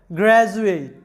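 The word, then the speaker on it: graduate: তো এই গ্র্যাজুয়েট শব্দের মধ্যে দেখো যে ডি এর উচ্চারণটা কেমন হয়েছে। ডি এর আগে আছে এই, পরে আছে ইউ, যার কারণে ডি এর উচ্চারণটা হবে জ এর মতো, গ্র্যাজুয়েট। দেখো জ এর মতো উচ্চারণটা হয়েছে। এরপরে লক্ষ্য করো, ইন্ডিভিজুয়াল শব্দটা লক্ষ্য করো, ইন্ডিভিজুয়াল।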